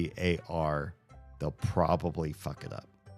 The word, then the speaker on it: Qatar: know some Arabic, and I say Qatar, it makes more sense to the ear to hear me say it from somebody who understands Arabic than how most Americans pronounce it. I think most Americans pronounce Qatar as Qatar, which is wrong every which way. Or it's close to right, but also extremely far from right.